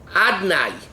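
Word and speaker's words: Adonai: It's written Yud Kei Vav Kei, and it's written Adnai. I mean, it's pronounced Adnai.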